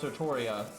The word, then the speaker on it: Altria: say it that way like any time it's pronounced it's always pronounced sartoria but then you know nasu was the one that's saying it's supposed to be spelled altria but it's not said